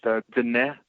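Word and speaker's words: Diné: bit yeah for sure so the word is pronounced the net which means B yeah yeah which would be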